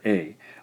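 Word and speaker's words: あ: It is romanized, that is written in English as A, the letter A. However, it's pronounced A in Japanese.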